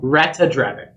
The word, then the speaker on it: Ratadrabik: Well, there you missed the A in the middle. Ratadrabik.